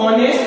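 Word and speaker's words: honest: कुछ आर्टिकल होते हैं हमारे, जैसे हमने कहा ऑनेस्ट में, ऑनेस्ट में, अब इसको हम ऑनेस्ट पढ़ते हैं, ऑनेस्ट नहीं पढ़ा जाएगा। ऑनेस्ट, एच यहाँ पर साइलेंट होता है, जब एच यहाँ पर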